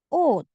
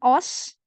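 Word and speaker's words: 옷: Lanjut ada oat. Sini oat ya. Bukan os, bukan, tapi karena dia di bawah, di sini dia dibaca T.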